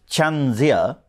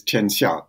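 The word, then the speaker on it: tianxia: all about yes um the pronunciation if I may is cha but but um it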